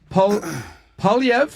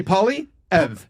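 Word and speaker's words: Poilievre: Polyev, and that's how I'll teach you how to pronounce it. Polyev, say apple. Say Polyev.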